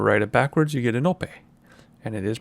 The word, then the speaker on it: Anope: a poni and write it backwards you get a no pay and it is pronounced in no pay I have asked in the past we have